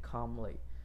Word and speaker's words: calmly: 不发音的，我们念 calmly。